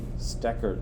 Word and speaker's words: Stecker: Uh, my name is Professor Stecker. That's how you say it. Stacker. There's a E in there.